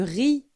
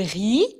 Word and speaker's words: riz: les pâtes le riz attention on ne prononce pas le Z les pommes de terre